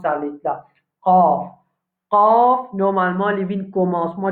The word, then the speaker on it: ق: Vous avez beaucoup de difficultés pour qu'ils prononcent ça lettre là. Qaf.